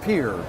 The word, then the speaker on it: Piher: is famous for that the company is called Pierre that's how you pronounce that VI ETR got the